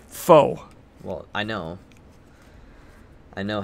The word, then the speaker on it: faux: I was like, what the heck's a fox relic? I've never seen that word before. I don't know what that means. Like, that's kind of weird. It's faux.